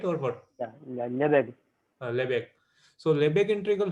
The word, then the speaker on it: Lebesgue: Now when you say this, I don't know how to exactly pronounce it. Lebesgue. Lebesgue, right, or what? Yeah. Yeah. Lebesgue.